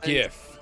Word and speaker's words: GIF: It's pronounced GIF, by the way.